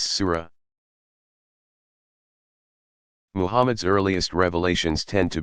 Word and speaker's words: Sura: arranged in 114 sections called Suez pronounce Sura Mohamed's earliest revelations tend